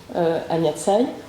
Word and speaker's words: Tsai: J'ai une chaîne YouTube aussi qui porte mon nom, Anya Tsai. Ça s'écrit S-A-I, Anya A-N-Y-A.